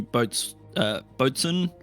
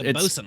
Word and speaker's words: boatswain: There was Thalos, who is the boatswain, almost said boatswain, yeah, it's bosun.